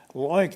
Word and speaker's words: LOINC: One of our funders said, LOINC, that rhymes with oink, it's like a pig or something like that.